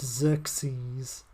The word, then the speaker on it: Xerxes: not meant to pronounce the ax it's just pronounced Xerxes one more S at the end sexy yeah